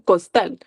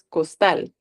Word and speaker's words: costal: Díganlo como ustedes, no lo digan costal, o sea, costal, sino que es costal. ¿Dónde está la fuerza? En tal.